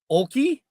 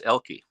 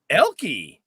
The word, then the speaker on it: Oelke: first e so Oki did I get that right or wrong close the O is actually silent it's elky elky yeah the O has no business being there well then why the